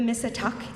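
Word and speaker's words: Missituk: the great tidal River or the Miss attack in Pequot Algonquin which is the correct pronunciation of what we now call The Mystic River we celebrate the Beauty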